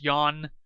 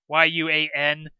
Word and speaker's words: yuan: So, most common production cost 6 yuan, and yeah, it explains later in the game. It's spelled the unit of Chinese currency is spelled yuan, but it's pronounced as one syllable.